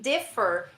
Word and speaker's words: differ: any other sentence in the stress in differ is on the first syllable okay so I beg